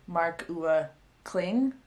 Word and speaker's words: Marc-Uwe Kling: I could only find like one pronunciation thing on Google, and I think you say the author's name as marc-uwe Kling.